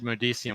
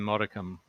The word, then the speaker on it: modicum: and also I miss I mispronounced what I said modician when it should have been modicum uh someone in the